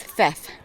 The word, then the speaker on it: Theth: so coming from theth I keep calling it teth but apparently they pronounce the the H and the th so it's theft it is so cool